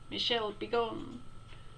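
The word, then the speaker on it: Michel Bégon: here sound dominique this his name was Michelle had begun which and she sounds like an instruction or a curse really Michelle be gone I'm sorry Michelle be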